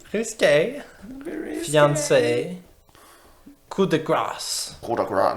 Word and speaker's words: coup de grâce: Coup de gras. Non, c'est coup de gras.